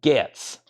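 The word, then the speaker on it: Getz: Hard G, pronounced Gets. It is pronounced Gets.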